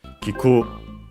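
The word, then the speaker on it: 聞く: Kiku should be unaccented, and it is.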